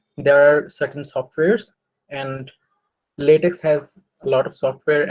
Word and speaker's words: LaTeX: uh latex is this is pronounced uh usually by the layman's uh x that it started and ends uh the word ends with an x uh but the actual pronunciation is latex uh but in any case